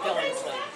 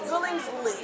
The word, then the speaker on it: Billingsly: It's Billingsly. Yes, Billingsly. I added another T at the end. So, you know, but Billingsly, I have it now, everyone.